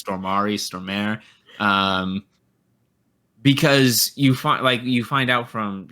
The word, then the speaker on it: Stormare: I can never remember how to pronounce his name. It's Stormare.